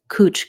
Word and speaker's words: couch: In Australia, they pronounce this cooch grass. Instead of ow, they use oo, cooch.